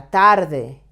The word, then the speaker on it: tarde: These words, la mañana, la tarde, ella, do you remember these words? We have studied them in other lessons. La mañana is the morning. La tarde, the afternoon. Ella is the personal pronoun, she. So, they end in vowel. So, they should be stressed on the penultimate syllable.